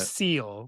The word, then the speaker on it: Seel: seal, which is spelled Mhm. SEEL, number Aw, 86.